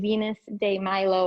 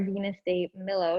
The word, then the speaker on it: Venus de Milo: seen this woman before this is venus de milo or venus day milo depending on how you choose to pronounce it um it was and